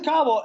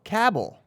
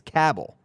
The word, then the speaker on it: Coble: well oh really blaze cobble it blaze cobble was playing too and Caldwell was just telling him what to do blaze had no idea hey apologize bobble no Cabell rhymes with Scrabble yes blaze Coble cornered